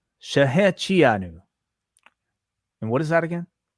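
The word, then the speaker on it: Shehecheyanu: Rebar Mitzvah Revere himself, has a proper pronunciation. Thank you so much, John, for the super chat. He says Shahechianu. Shahechianu.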